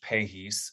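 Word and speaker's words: Pahys: recently a wonderful article in jbjs by Josh pahis spelled p-a-h-y-s out of the Shriners Hospital in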